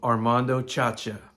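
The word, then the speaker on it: Armando Sciascia: And it's a gentleman by the name of Armando Chacha. That's how his name is pronounced.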